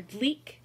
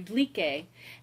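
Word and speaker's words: Dlique: And so, for instance, she says translator Dleek, and in my head I hear translator Dleeke.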